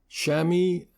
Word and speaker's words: Chamois: Of particular concern were 2 particular malware, Chamy, that's spelled Chamois, and Triada, Triada.